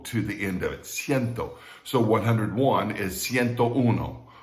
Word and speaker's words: cien: the larger numbers okay we left off with sienn cien is four letters c-i-e-n and it is